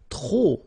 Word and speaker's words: trop: If you want to use trop, and trop means too many, okay? Then you will have to put de and the noun without the article, okay? Remember, too many, trop, don't pronounce the final P.